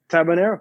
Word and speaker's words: Tabanero: And so I also, because I know I probably butchered the name of your cigars on my show last week. Is it Tabanero? Yeah, Tabanero.